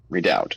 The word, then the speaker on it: redoubt: How do you pronounce this, for one thing? Redoubt, okay.